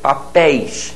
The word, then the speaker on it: papéis: Papéis, ditongo aberto ei, daí o acento.